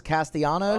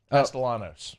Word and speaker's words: Castellanos: That's uh what's his uh Tom to uh Thomas Castanos I think is his name. Oh yeah. I think you pronounce the L's. Castellanos.